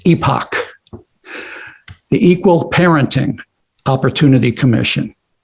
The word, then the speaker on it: EPOC: like to propose the epoc uh pronounced epoch the equal parenting opportunity